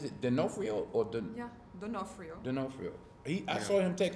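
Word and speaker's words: D'Onofrio: Denofrio.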